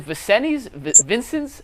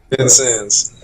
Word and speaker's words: Vincennes: You started in Juco, and I can't even pronounce. Is it Vincent's? How do you pronounce the Juco? Vincennes.